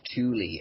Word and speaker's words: Thule: So Thule is the German pronunciation. I think us over here, certainly Britain and America, probably I call it Thule, as you just did,